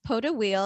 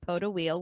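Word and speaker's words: Pot d'Huile: called pope it's pronounced poto wheel and it's spelled p o t d apostrophe h h-u-i-l-e but i looked it up and it's pronounced powder wheel which is like french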